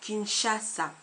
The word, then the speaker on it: Kinshasa: entre S et h alors là attention s h don comme dans Kinshasa Kinshasa donc on ne dit pas Kinshasa Kinshasa ce son t